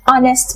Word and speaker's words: honest: An hour, an honest man, etc. The claim in the last two examples is that the H is not pronounced in those words.